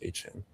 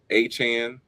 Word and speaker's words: Etienne: How do you feel about Travis Etienne saying his name is pronounced H-N?